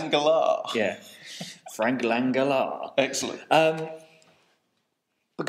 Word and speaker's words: Langella: Well, I think if we're going from the American trailer voice, it'd be Langella. I think that's how Trailer Man would pronounce it. Langella.